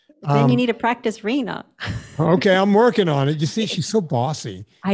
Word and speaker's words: Rina: But it's Rina. Rina. Like think of our, like if you don't say it correctly, you'll have renal failure. Okay. Rina. R-I-N-A, but think of it as R-E-E-N-A. Okay.